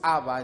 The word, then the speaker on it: Abba: La palabra Abba viene del arameo y llegó hasta nuestros días, se pronuncia entre los hebreos Abba en el español.